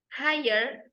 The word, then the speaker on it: high: Higher and higher. Wood and wood. The L is silent. High and high. The G and H is also silent.